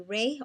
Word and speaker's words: Rahe: I get it could either be Ray or Rahe, but it's spelled R-A-H-E.